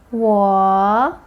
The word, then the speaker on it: 我: 我 falling rising tone.